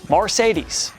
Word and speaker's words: Marcedes: crazy part is that his name isn't even spelled like the car it's spelled exactly how it sounds marcedes I know he's not